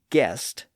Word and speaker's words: guest: That's why the word guest, G-U-E-S-T, is spelled with G-U rather than a simple G. G-E-S-T might imply that the pronunciation was jest, so the G-U spelling was used to make it clear that the G was a hard G.